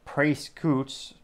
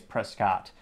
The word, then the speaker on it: Prescott: did link it to Mr. Dake Prescoots. Ha, kidding. The internet told me it's Prescott in terms of pronunciation.